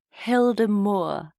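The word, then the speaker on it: Hyldemoer: you're Danish forgive me I think it's pronounced Hilder Mo h y lde e m o e r and the hemore was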